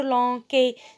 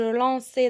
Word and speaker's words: lançais: Et donc, le C devant A, ça se prononce K. Et donc, je vais dire je lanquais. Je dois dire je lançais.